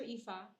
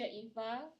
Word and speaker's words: Iffah: So a lot of my students pronounce my name as Ifa. So I'm just letting you know it's Teacher Ifa. Okay, I just tell them it's not iPhone. I'm not an iPhone.